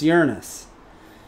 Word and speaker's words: Uranus: space, and they don't know that it's actually pronounced Uranus.